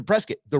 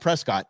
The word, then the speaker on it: Prescott: we went into to Prescot the reason why we're in Prescot remember it's not Prescott it's Prescot rhymes with biscuit okay just and you